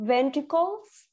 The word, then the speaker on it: ventricles: try it again two ventricles because ventricle okay we have an S at the end right so two ventricles